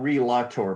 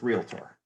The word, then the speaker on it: realtor: uh and it's not re-lotto by the way so pronounce it correctly it's there's no a in realtor uh after the l just realtor uh how do we